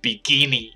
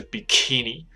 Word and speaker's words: bikini: 知道很多人就念成比基尼，因为比基尼，可是事实上不是，它正确念法是 bikini，它是 k 在里面，不